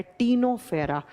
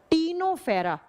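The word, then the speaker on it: Ctenophora: टीनोफेरा लिखा जाता है सी से। प्रोनाउंस किया जाता है टी से। टीनो फेरा फेर्रा।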